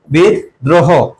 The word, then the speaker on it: বিদ্রোহ: সন্ধ্যা এরপরে বিদ্রোহ দেখো বিদ্রোহ এর উচ্চারণটা কি হবে বিদ যেখানে থামে এবং কোন কার থাকে না সেখানে হস চিহ্ন বসে তাহলে বিদ তারপরে কি হবে দ্রোহ হবে কি হবে দ্রোহ বিদ দ্রোহ সামান্য দেখো এখানেও কি